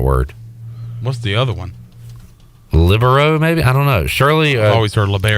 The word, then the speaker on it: libero: um someone said that uh the preferred uh pronunciation is libero but I have heard it the other way